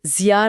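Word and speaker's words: Xia: और यही वो समय है जिसे चीन के पहले राजवंश से जोड़ा जाता है वो जिया राजवंश हां जिया राजवंश जिसे शिया जैसा उच्चारण करते हैं।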